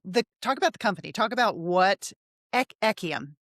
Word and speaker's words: Ekyam: Talk about what Ekyam? Ekyam, yes, you pronounced it correctly.